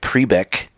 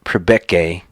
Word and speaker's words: Priebke: and public guys eric priebeck sorry it's prebeke i don't know how